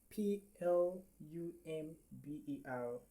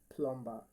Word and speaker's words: plumber: many person is called plumbumber but it is not plumb plumbumber is not the correct pronunciation. All right the letter B here is silent.